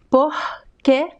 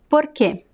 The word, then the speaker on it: porque: It can sound like the H, porque, porque, porque. It could sound like the flap T in American English, which is the fricative R, por, porque, porque, porque. And it could also sound like the American R, por, porque, porque, porque. The three pronunciations are correct.